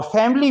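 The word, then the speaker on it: family: और फैमिली में आई साइलेंट होता है। फैमिली, इसको फैमिली अगर बोलेंगे तो गलत हो जाएगा।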